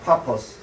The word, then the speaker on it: 파포스: 자, 그곳에서 복음을 전한 다음에 그리고 구브로의 수도였던 우리 성경에는 바보라고 나오지만은 바보는 아니고 파포스입니다. 파포스. 발음이 파포스인데 옛날 분들이 바보라고 번역을 한 거예요.